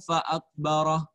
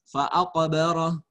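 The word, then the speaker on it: فأقبره: Kamu tadi bacanya Thumma amatahu fa'akbarah. Seharusnya fa'aqbarah. Thumma amatahu fa'aqbarah. Qafnya mantul. Mantap betul ya.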